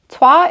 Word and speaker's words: Troyes: Yes, I had to look up how to pronounce that, and I'm not ashamed to admit that. Troyes is a dice worker placement where you start